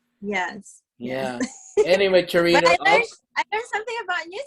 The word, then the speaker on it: Charito: So I have to say my name either, okay, well, Americanized Churrito or Charito. Because churrito, it sounds like food, girl. Just say charito.